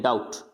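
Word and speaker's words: doubt: डाउट, यानी यहाँ पे बी, टी के से पहले बी आ रहा है तो इसको बोलना है, यानी बी को प्रोनाउंस करना ही नहीं है, डाउट।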